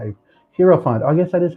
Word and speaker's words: Hierophant: Hierophant. Oh, I guess that is how you pronounce it.